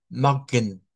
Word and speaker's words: Morgen: Ok, bueno, ahí Oscar sí, la R le sale muy R fuerte del español. Trate de decirlo como Morgen, Mog, Guten Morgen. mejor, ahí está mejor. Guten Morgen. Eso es una de las cosas que debemos de trabajar.